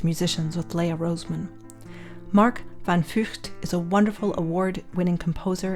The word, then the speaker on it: van Vugt: So I checked with you the pronunciation of your name. I think I can approximate it. Van Vugt. That's very good. Yeah, it's a difficult name, but yeah, you're doing well.